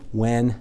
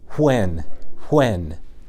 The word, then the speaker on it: when: Well, if I'm looking at it, I see that it's got an H in there that doesn't make any sound. It's silent. That's tricky. If it was spelled W-E-N, when, that would be great.